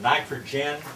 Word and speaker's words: nitrogen: Sometimes you'll see it sold under the name of nitrogen, and it's spelled G-I-N instead of G-E-N.